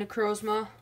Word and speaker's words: Necrozma: I'm here with a Pokemon Sun and Moon Ultra Prism Elite Trainer Box with Duskmane Necrozma. Finally pronounced that, or not pronounced it?